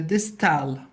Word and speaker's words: distal: so for is the distal now notice these letters distal rhymes with detailed okay so in this